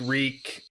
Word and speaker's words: Reek: yeah rhymes with pain the reek reek uh it rhymes with sneak like he's like totally